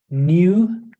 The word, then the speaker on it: new: In British pronunciation, the consonant, this one, yeah, yeah, is included in these two words, resume and new. On the other hand, the Americans exclude this sound when they pronounce them.